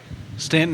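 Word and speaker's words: Staunton: this is Augusta Waynesboro Stanton Stanton staffy Stanton want to go Stanton Stanton is how most people pronounce it I say Stan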